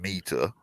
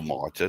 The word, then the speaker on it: Mita: called back then Kaishira meter Right. or mitre, depending on how you want to pronounce it.